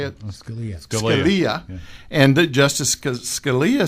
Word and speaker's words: Scalia: um Justice scal how do you say it Scalia Scalia and Justice Scalia said well well let's